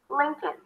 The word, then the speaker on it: Lincoln: You start with an L, Lin, with a relaxed is sound, and then it's a k sound, a schwa, and an N. Good. Lincoln.